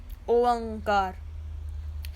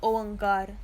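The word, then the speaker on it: ਓਅੰਕਾਰ: out properly, which is an open uda with a hoda, which gives us the sound of O, and then era tippi ang and kakka kanna rara kar.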